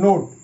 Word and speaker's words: note: সো এটা হচ্ছে নোট। এখানে একটা কথা বলে রাখি, তুমি যদি জানো যে এটা নোট উচ্চারণটা করতে পারছো, তবুও ভিডিওটি দেখো। এখানে শুধু ইয়ের জন্য না, বেশ কিছু এক্সট্রা নিয়মও বলতে চলেছি। সো ফার্স্ট যেমন এখানে ও এর উচ্চারণটা দেখো, ও এখানে ও এর মতো হচ্ছে, ও এর মতোই হচ্ছে, মানে ও এর লং টার্ম হচ্ছে, ও এর লং টার্ম উচ্চারণ হচ্ছে, কারণ এখানে ভিসিবি রুল কাজ করছে।